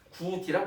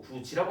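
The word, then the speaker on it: 굳이: 구디라고 하지 않고 구지라고 하는 이유는 이 모음의 조미치가 어디에 가깝다? 여기에 가깝기 때문에 그런 거예요.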